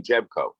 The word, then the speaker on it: Jebko: His name is, he pronounced his name Jebko. John Jebko. It's an odd spelling.